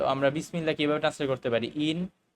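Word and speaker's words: بسم الله: তখন আমরা করি কি এই যে হামজাটা যেহেতু হামজাতুর ওয়াসুল এটা কিন্তু উচ্চারণে আসবে না আমরা কিন্তু বি ইসমিল্লাহ বলবো না আমরা বলব বিসমিল্লাহ ঠিক আছে ভালো করে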